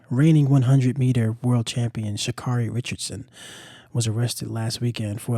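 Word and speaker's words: Sha'Carri Richardson: Um, but uh, Miss Richardson, Sakari Richardson, um, Shakari Richardson, let me say her name correctly, um, was arrested at the airport um, in Washington for a domestic violence offense.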